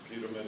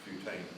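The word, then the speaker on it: putamen: the Pam and you got them all right mispronounced pamin it's putan you wouldn't know that unless you were here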